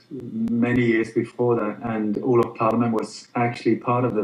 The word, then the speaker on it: Olof Palme: Olof Palme, and Yeah.